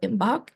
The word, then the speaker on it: Imbolc: Seasons that we see of the wheel so imbach can be spelled a few different ways um I typically spell it i m b o l c you